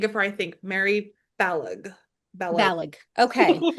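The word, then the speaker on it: Balogh: I've heard that it rhymes with Kellogg.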